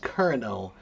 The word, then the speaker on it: colonel: Colonel uh which is pronounced kernel which comes from the word columnella little column or colonel.